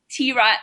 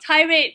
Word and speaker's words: T-Rat: So our community chat podcast, Tomboy T-Rat, yes, it's pronounced as T-Rat, not tirade, but T-Rat, the way we like to say it, featuring both of us, has become Asia's biggest all-female comedy chat podcast.